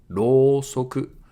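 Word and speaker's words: ろうそく: So here u after ro makes it a long vowel. Rosoku.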